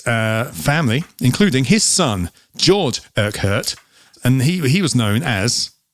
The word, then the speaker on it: Urquhart: But there was a guy called John Urquhart. That is how you pronounce it. I found out. Urquhart. Urquhart.